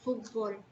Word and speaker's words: fútbol: fuerza de voz y tenemos la palabra fútbol tenemos que hacer lo que se tiene que ir pintado y pareciera que el acento lo lleva en él ahí en la última sílaba gol pero en terminar lo lleva en la penúltima fila no sé si